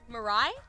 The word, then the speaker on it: Mirai: say that name Murray Mirai it looks like it's named for the Japanese word for future when we were told